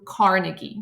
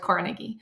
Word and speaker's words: Carnegie: interest today is Andrew Carnegie you may pronounce you may have here iteration of his last name being pronounced as the carnegi I'm going to go with Carnegie so he became a